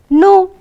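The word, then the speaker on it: know: K-N-O-W, no. You pronounce it the same. It sounds the same.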